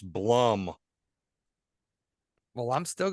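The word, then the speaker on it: Blumhouse: it rotten yeah so we know it's a Bloomberg as I call it production and me and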